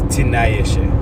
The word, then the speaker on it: Tinayeshe: Tinayeshe is really what it is, but it's Tinayeshe. You take off the I. Ishe is spelled I-S-H-E. Tinaye, T-I-N-A-Y-E. Drop the I, S-H-E. God, Ishe.